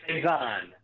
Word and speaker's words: Saizan: of your last name it is seison okay it is a French last name so if you think in terms of a French accent H you should be